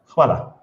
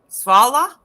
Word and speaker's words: hvala: Hvala. Svala? Hvala. With an Hvala. H. Yes, hvala. Hvala.